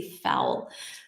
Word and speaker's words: fowl: Here you say fowl, fowl, like cow, fowl.